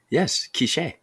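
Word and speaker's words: K'iche': So there's the accent is on the last letter. Okay. A department in the Western Highlands of Guatemala, but it also refers to the Quiche people, an indigenous Mayan ethnic group, and the Quiche language. And in that case, it's spelled differently. It's K apostrophe ICHE with the accent on the end there.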